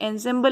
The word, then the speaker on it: ensemble: ये ensemble लिखा है बट इट is pronounced to बी ensemble, इसको ensemble बोला जाता है।